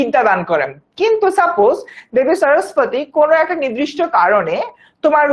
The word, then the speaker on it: সরস্বতী: যেমন আমি যদি হচ্ছে কি যে আচ্ছা, একজন বললো আচ্ছা, বাংলা উচ্চারণ করতে গেলে সরস্বতী হয়, আবার আমার কেন জানি উচ্চারণটা বাংলাটা ইউজুয়ালি আসে না মুখ দিয়ে, ইংলিশটা বের হয়ে যায়, ওটার উচ্চারণটা সরস্বতী।